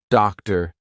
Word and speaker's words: doctor: But if a T comes after any other consonant, a lot of times it's going to be pronounced as the true T. For example, actor, doctor, empty. Okay, so we're going to be using the true T sound in those words.